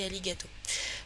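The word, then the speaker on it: ありがとう: merci en japonais donc ça s'écrit arigato mais ça se dit ali gâteau voilà donc c'est un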